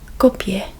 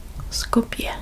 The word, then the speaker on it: Skopje: It's Skopje. Skopje. I think that's how it's pronounced.